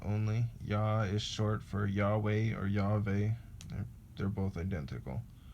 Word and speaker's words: Yahweh: I hear sometimes you spell or you pronounce the W as a V and the V as a W sometimes, so it's the exact same.